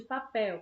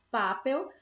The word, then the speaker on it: papel: de papel presta atenção a gente não pronuncia papel se a gente pronunciasse Papel então a sílaba mais forte seria a pa certo seria pa como a gente fala papel a sílaba mais forte é o céu certo então como a